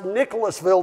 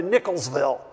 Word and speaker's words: Nicholasville: onto YouTube and see how people pronounce Nicholasville to make sure they didn't shorten it down to Nicholsville seems to be a